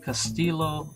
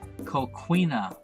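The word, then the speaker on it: coquina: these forts were built of castello stone or I'm sorry I mispronounced a co queena stone which is a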